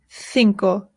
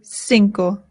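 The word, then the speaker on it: cinco: In Spain they say thinko. In Latin America they say sinco.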